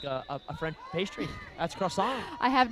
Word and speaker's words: croissant: You don't really pronounce the T in croissant anyway, do you?